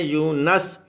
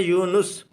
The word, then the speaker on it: یونس: ہے، یونس علیہ السلام، لوگ یہاں پر نون کے اوپر زبر سے بولتے ہیں، لکھتے ہیں یونس، حالانکہ یہ قرآن کریم ہے یونس۔ ہارون، ہارون علیہ السلام،